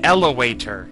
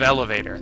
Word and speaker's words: elevator: went up there see he said elator instead of elevator that's the kind of